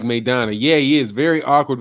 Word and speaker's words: Maidana: That's how you pronounce that. Rajdi says, yeah, Showtime Porter is tough. He's like Maidana.